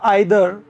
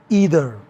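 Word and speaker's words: either: जैसे ब्रिटिश बोलेगा आइदर, American बोलेगा ईदर। हालांकि आजकल ब्रिटिश लोग भी ईदर बोलने लगे हैं, यंग जनरेशन वाले,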